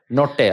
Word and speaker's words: Nottay: No, that's Nottay, correct. I thought so. Good job. What's the Desi way of saying your surname? Nottay. Like, how do your parents say it? Nottay, okay.